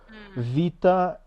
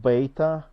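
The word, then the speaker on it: βήτα: as I can tell we have Vita not beta Vita uh Rama not gamma gamma and we have uh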